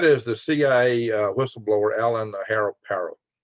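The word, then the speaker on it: Parot: It's not spelled the same as Ross Perot. It's pronounced Perot, but his name is spelled like Parrot, P-A-R-O-T. I don't want to call him Parrot, but he's apparently they pronounce it Perot.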